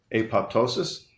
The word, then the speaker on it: apoptosis: Apoptosis.